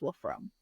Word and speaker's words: Wolfram: wolam rights atgmailcom and Wolfram is spelled w LF r a m yes yep Wolfram but it's actually pronounced wolf from H yeah gotta love